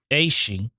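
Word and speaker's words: aes sídhe: And in Ireland, the mythic Aeshe, and this is spelled Aesidhe, Aeshe, or people of the fairy hills.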